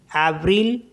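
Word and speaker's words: avril: वी आर आई एल इसको पढ़ते हैं ब्रल एव्रिल मतलब अप्रैल नेक्स्ट वर्ड है बंजू इसको बंजू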